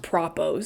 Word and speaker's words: propo: I You know, the whole time I was reading it, I wanted to call them propos. They're pronounced propos, short for propaganda, propaganda spots.